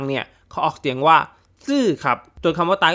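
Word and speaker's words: 死: บอก ว่า เฮ้ย แอด ตาย มัน ออก เสียง ว่า ซี่ นะ แบบ คน เฒ่า คน แก่ คน จีน ชอบ พูด อ่ะ ซี่ แล้ว ซี แล้ว ก็ ต้อง บอก ว่า ออก เสียง แบบ นี้ ก็ ถูก ครับ เพราะ การ ออก เสียง ซี้ นี้ เป็น การ ออก เสียง แบบ จีน แต้ จิ๋ว คือ คน จีน บ้าน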